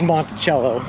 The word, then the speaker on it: Monticello: would have guessed so they actually do pronounce it wrong and everyone with italian blood in them has waged war yet impressive man i might be the straw here that breaks the camel's back war might be waged as i walk through the town because i refuse to pronounce it with the ass it is monticello as far as i'm concerned as a night shift